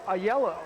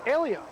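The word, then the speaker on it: Aiello: And they told me a couple games ago, the coaches said, no, it is Alio. But it looks like a yellow, don't you think? A-I-E-L-L-O? That's how I pronounce it if I were to guess. Yeah, that's the way I guess would be wrong.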